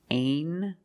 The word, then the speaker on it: angel: Angel.